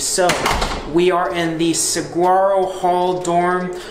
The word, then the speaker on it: Saguaro: the Saguaro Hall dorm I know that's not how it's pronounced but that's how I pronounce so they say it's pronounced like the gia styling swara or something like that but how I see it it looks like squirrel so that's how I'm